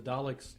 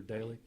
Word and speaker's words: Dalek: Cybermen Cybermen no the Daleks sir I think it depends on who's playing the doctor at the time okay Dalek or daily pronounce both ways furthermore Scottish ER but